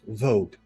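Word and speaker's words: Vozhd: pronunciation for this one it's not what you think it is it's vode vode oh okay yes good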